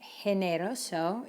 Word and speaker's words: generoso: the letter C, but let's see what happens to G when it follows, when it's followed by the letter I or the letter E. How do you think you pronounce this word? If you were thinking generoso, you're right.